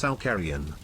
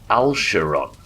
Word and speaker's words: Alcarion: Al, share, on was the original pronunciation, but the hard K that a lot of people use I'm getting used to. For instance Alcarion. Alsheron.